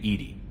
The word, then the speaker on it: EDI: Why are you named Edy? ED is the phonetic pronunciation of EDI.